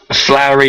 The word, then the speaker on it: Floor: Flowery Janssen. Is that what? Floor, F-L, just like floor. You walk on a floor.